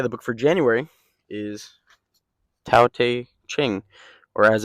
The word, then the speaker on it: Tao Te Ching: Um, but yeah, the book for January is Tao Te Ching, or as it's supposed to be pronounced, and it tells you at the beginning of the book, Tao Te Ching.